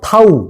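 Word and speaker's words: ת: 타브 타브 타우 뭐 이렇게도 읽기도 해요.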